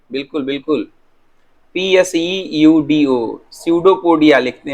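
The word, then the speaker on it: pseudopodia: सर इसमें P silent है। हाँ हाँ हाँ, पी साइलेंट है बेटा, पी साइलेंट है, बिल्कुल बिल्कुल, PSEUDO, स्यूडोपोडिया लिखते हैं, लेकिन पी साइलेंट है, पी साइलेंट है।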